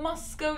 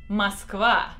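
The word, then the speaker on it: Москва: we're gonna have a Moscow City blog so first of all it's miskova that's how you say it in Russian muscala not Moscow Moscow Moscow but also just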